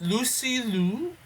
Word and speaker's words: Lucy Liu: Jackie Chan, you get Seth Rogen, you get Lucy Liu. That's how you pronounce her name.